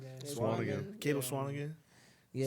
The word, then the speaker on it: Swanigan: Swanigan. Yeah, Swanigan.